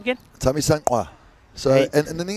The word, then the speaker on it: Thamisqa: Tamisankwa.